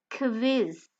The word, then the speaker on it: Quiz: word, then the Q changes to a kw, KW sound, as in the German word quiz, which by the way means the same as the English word quiz.